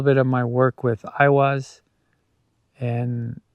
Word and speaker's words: Eihwaz: that we have, it, Eihwaz, or what some pronounce as Eihwaz or Ahwaz, is the yew tree and bows.